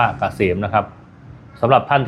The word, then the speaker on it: เกษม: แอด นำ หน้า นะ K SCM อ่าน ว่า เกษม นะ ครับ สำหรับ ท่าน